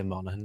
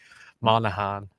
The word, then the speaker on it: Monaghan: Monaghan. How do you say it? Monaghan. Monaghan. Monaghan. You said like in at the end, not Or so what else? You said like in, like it's spelled.